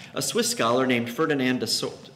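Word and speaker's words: Saussure: Swiss scholar named Ferdinand assort like you pronounce his last name - Saucer applied scientific methods to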